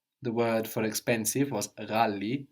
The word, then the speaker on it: ghali: The word for expensive was ghali, ghali. Ghali. G-H-A-L-I, ghali. Ghali. So this GH sound is pronounced like with a little throat friction, ra, but it's not very common in Swahili.